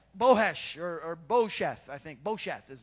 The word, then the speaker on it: Bosheth: Bosheth is how you say it, which means shame in the Hebrew language.